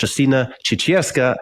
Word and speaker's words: Justyna Ciecierska: have Jolene as my co-host and we have Justina chicha as our guest how did I do on the pronunciation perfect you did there we go perfect